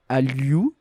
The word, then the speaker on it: Hallyu: alors je crois que j'avais très mal le prononcer, le Hallyu, c'est H-A-L-L-Y-U.